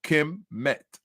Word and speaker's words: Kemet: And this is the phonographic rendition of it. How you say it. Kemet.